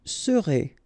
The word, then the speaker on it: serez: Vous serez. A Z together at the end.